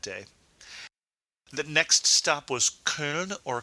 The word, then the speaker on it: Köln: It is a German city, and the German pronunciation for the city is Köln.